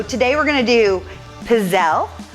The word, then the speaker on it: pizzelle: we're going to do pizzelle which is how i learned to pronounce it but it's got an e on the end of it when you spell it and from what i've learned you always pronounce e at the end of an italian name as eh so maybe we're making pizzelle i'll have to check